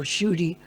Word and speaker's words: Kshudi: It's like my name starts with the letter Ksha. It's not used very often, but at least you have a letter to spell it. Most people call me Kshudi or Shudi, but there's a Sanskrit